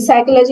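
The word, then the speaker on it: psychology: जैसे बोला जाता है कि नॉलेज, साइकोलॉजी, ये सारे में पी, साइकोलॉजी में पी है ही नहीं, नॉलेज में के है ही नहीं।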